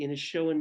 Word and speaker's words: Inishowen: be called Donegal, the Inishowen Mysteries. Any word as to when that will come out, Andrea? Well, firstly, it's Donegal. You pronounced Inishowen perfectly, but Donegal is Donegal, County Donegal.